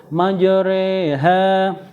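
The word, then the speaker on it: مجريها: yaitu pada lafal ha tulisannya majoroha Tapi bacanya Re ya maj reha selanjutnya yaitu bacaan Nakel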